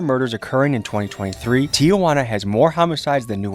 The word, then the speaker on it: Tijuana: Infamous city of Tiana affectionately that's okay okay Tiana that's how you pronounce it okay okay okay 15 million people